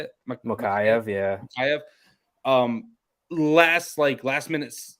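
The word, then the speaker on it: Mokaev: Mokayev, yeah.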